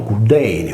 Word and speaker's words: Cyllene: Monte d'Accudi è quasi omonimo del monte Cilleine di Creta, pronunciato Cudeine o dell'amore, in quanto la doppia L riportata nei grafemi con le consonanti liquide gemelle esprimeva il nostro suono cacuminale, oggi trascritto con la doppia D.